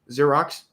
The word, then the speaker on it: Xerox: Xerox, the X is silent.